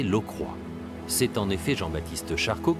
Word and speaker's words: Lockroy: base anglaise de port Lockroy en réalité il faut prononcer l'eau croix c'est en effet Jean-Baptiste